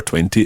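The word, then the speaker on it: vingt: And the number 20 is spelled V-I-N-G-T.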